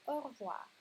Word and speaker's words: au revoir: Après, c'est au revoir, comme on le dit normalement, ou au revoir. Oui, normalement, c'est très très vite. On ne le prononce pas juste avec chaque lettre, c'est au revoir.